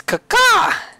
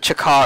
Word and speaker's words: Kaka: That is Kaka! Chris pronounced it Chaka earlier or something like that.